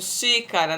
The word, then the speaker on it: xícara: Conheça algumas palavras onde o X tem som de CH, por exemplo, xícara, né?